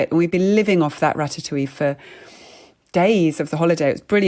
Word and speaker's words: ratatouille: And we'd be living off that ratatouille for days of the holiday. It was a brilliant thing to make. And she would always call it ratatatouille. For some reason, she added that extra syllable, which I kind of love.